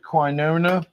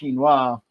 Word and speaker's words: quinoa: Well, I generally pronounce it quona, but when I read the label today or yesterday when I was making it, because I've never made it before.